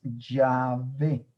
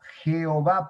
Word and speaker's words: Yahvé: Entonces, nada más con la letra A, te das cuenta que el correcto nombre es Yahvé y no Jehová, porque el A no aparecería en la primera sílaba.